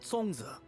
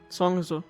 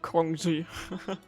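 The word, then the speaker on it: Xiangling: little woo moo and songza that's how you pronounce it song is a okay not kong ji well if that's the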